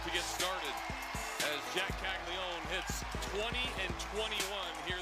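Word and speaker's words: Caglianone: name is it's spelled caglia yeah but it's pronounced caglion and uh he by the way as we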